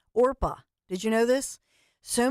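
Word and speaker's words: Orpah: name her birth name is a Bible name orpa did you know this so many people mispronounced her name as Oprah she just went with it at one point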